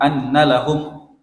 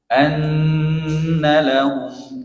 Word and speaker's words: أن لهم: Dengung, jangan buru-buru. Anna lahum itu buru-buru, didengungkan. Nun yang bertasydid ada dengungnya. Anna lahum gitu.